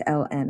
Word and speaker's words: ln: log base e of x they just write ln of x so this is pronounced l n of x that's how you